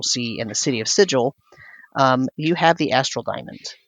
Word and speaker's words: Sigil: I have no opinion on the chained god, but the pronunciation of the city at the center of the Outlands, that is canonically not pronounced like the word.